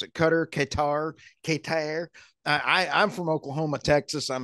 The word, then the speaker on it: Qatar: How do you pronounce it? Qatar.